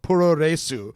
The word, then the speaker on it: puroresu: Japanese wrestling often called puroresu which is just like a mispronunciation of pro wrestling Pereira soo developed in